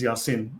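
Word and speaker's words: يس: Notice that the name of this portion of Revelation of the Quran is Yasin, pronounced in Arabic as Yasin.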